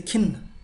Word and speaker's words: खिन्न: Depressed in Hindi we say khinn, khinn, alright? Khinn, khinn. This is aspirated ka sound, ki, ki, ki, right?